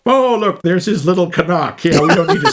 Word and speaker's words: Knock: It's not Knock, it's Canuck. They make a point of pronouncing that, hitting that hard K.